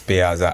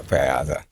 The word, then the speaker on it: Payaza: And the name is pay as Africa. Oh, did I say that wrong? No, no, it's Paza Africa. You didn't say it wrong. So, I say Paza. Yeah. Paza.